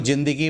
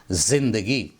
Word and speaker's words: ज़िंदगी: उसके बाद 5वें नंबर पर देखें, इसको ज़िंदगी बोलते हैं लोग। ये गलत तलफ़्फ़ुज़ है, इसको बोलना चाहिए ज़िंदगी।